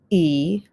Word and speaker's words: y: It's pronounced E, but it is the letter Y, boys and girls.